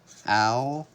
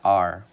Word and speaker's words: our: can pronounce it like ow like the word our or we can pronounce it like the letter R we can say our or our this is how we pronounce